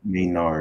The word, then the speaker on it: Maynard: How do you pronounce it? Charisse? Yes. Charisse Maynard said Maynard.